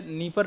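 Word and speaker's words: Dnieper: आप देखिएगा है ना एक निप्रो शहर है यहां पर डी साइलेंट होता है जैसे नी परर नदी है उसमें डी लगता है डी पढ़ा नहीं जाता बस है ना तो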